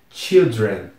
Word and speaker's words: children: Children e de novo a pronúncia fica totalmente estranha porque apesar de das primeiras letras serem iguais c h i l aqui também é c h i l d não se pronuncia mais ch como se fosse um som de a vira o som de i mesmo Children Children c h